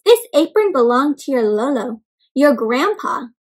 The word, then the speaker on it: Lolo: This apron belonged to your Lolo, your grandpa. So Lolo is how you say grandpa in Tagalog. Can you try, my friends?